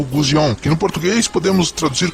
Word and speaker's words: Gusion: O nome de Guzion é pronunciado Gozion e significa pombinha.